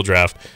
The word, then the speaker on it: draught: i don't oh yeah yeah that's how you pronounce it it's still draft um you lived in another country you know